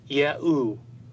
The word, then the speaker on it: Yahu: This would mean that these scribes would have pronounced God's sacred name as Ehu or Yahu, exactly as the Assyrian and Babylonian evidence demonstrate.